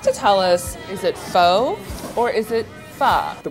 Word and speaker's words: Pho: it's pronounced f f so you bring it down and then you kind of bring it up so it's F the